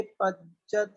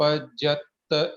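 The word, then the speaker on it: पज्जत्त: समना अमणानीया पंचीदियणिमणा परे सव्ये कादर सहुमे इंदी सव्ये पच्चत इदराय। इसमें पज्जत आखिरी में दो त हैं, सवे पज्जत इदराय, तो पज्जत नहीं पज्जत, ऐसा थोड़ा जोर लगा के बोलना।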